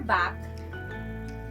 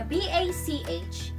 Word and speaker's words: Bach: johann sebastian back so the bach is pronounced as back in that batch all